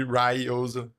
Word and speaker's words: Ryozo: So like the same thing would happen with Ryozo in here. It would be Ryozo.